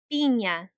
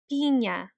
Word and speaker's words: piña: Don't forget that the N with the squiggly line above it, also called a tilde, is pronounced ñe. It's a bit longer than an N, so this word will be pronounced piña.